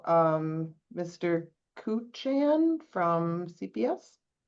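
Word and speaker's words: Kuchan: And it's Cuchon.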